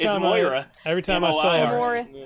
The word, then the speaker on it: Moira: every It's time Moira. every time I saw M-O-I-R-A. every time Moira. I saw Moira? Nick's Moira. Moria. Yeah, exactly. You guys always say Moria. It's Moira.